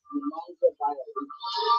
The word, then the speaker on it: Nemanja Bjelica: Nemanja Bjelica.